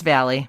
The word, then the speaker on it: Valle: It's Valle. Valle. I mean, it's Italian, so I'm sure. Valle. Yes, thank you. Like Frankie Valle.